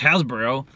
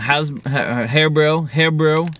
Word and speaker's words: HARIBO: Terry was like, hey, man, it's pronounced HARIBO. It's not pronounced Hasbro.